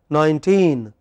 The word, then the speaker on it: nineteen: in the first word nineteen which part of the word is stressed teen but by mistake we